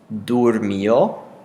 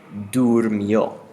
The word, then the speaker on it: durmió: And we have dormí, dormiste, durmió, dormimos, dormisteis, durmieron. So the sound is changing when you pronounce it from dor to dur. Dormiste, durmió.